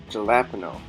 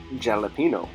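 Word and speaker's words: jalapeño: my attention Tyler that it's not called a jalapeno apparently I was wrong I guess the correct pronunciation is jalapeno so yes I will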